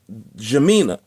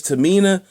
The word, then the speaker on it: Tamina: out to a sister Jamina. Okay, no, that's not how you say it. The sister's name is Rayak's Tassels. And she is also on Instagram, RAYACH, Tamina, with a T, Tamina.